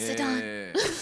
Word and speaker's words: Zidane: It's pronounced Zidane.